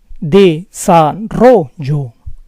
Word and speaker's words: desarrollo: If the word ends in a vowel, the stress falls on the second to last syllable.